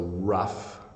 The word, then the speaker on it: rough: to look at is when the G H makes the F sound so the first word we have is rough so rough that's how you pronounce